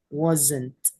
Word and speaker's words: wasn't: say was and not please turn the S into Z so instead of wasn't wasn't wasn't no no she wasn't